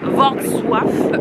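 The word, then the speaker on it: Wrocław: s'est un peu renseigné la vraie prononciation c'est V SWIF on n'est pas sûr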